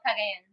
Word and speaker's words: Cagayan: Yeah, she has family in Camigan, and then I just say CDO because I can't pronounce it very well. What's it called? Oh, Cagayan. Yeah, Cagayan, they are a city in the Philippines.